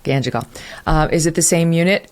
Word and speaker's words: Ganjgal: How do you pronounce the town? Ganjgal. Ganjgal.